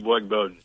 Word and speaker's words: Boyd Bowden: Boyd Bowden. That is correct.